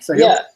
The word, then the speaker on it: Sahil: Sorry. Is that the right pronunciation? Sahil? Yeah. It's absolutely right. There's no way you can like mispronounce it.